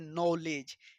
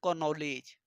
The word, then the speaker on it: knowledge: Silent sound जैसे नॉलेज, KNOWLEDGE लिखाता है, लेकिन क्या पढ़ा जाता है? नॉलेज। क्या लिखाता है? कॉनॉलेज। तो ये हो गया साइलेंट साउंड।